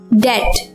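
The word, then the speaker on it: debt: डेट, यहां पर भी बी साइलेंट है।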